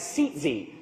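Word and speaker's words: tzitzit: borders and the tassels were referred to as seat Z it's spelled t z-i-t-z-i-t those of you who are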